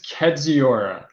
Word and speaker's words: Kedziora: try to pronounce it yes it is kedziora and and thank you for having me but what's really interesting a aside about Kor the pronouncing my name the last meeting I was just having they used chat PT to figure out how to pronounce it it actually gave them the Polish pronunciation kajiri which I was like